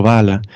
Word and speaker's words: Valla: En italiano se dice Lorenzo Valla, pero supongo en español es Valla porque es con L de caballo.